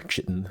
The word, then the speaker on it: chitin: So for instance, I needed some chitin or chitin, however you would prefer to pronounce it.